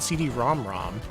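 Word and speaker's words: PC Engine CD-ROM²: wrong the entire time the actual way you say it is the PC engine CD ROM ROM and I'm not making that up yeah CD ROM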